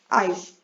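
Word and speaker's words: ice: आइस, आइस में I long vowel sound है और ई साइलेंट है।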